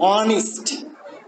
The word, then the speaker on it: honest: For example, honest, perfect, both of which end with strong syllables but are stressed on the first syllable.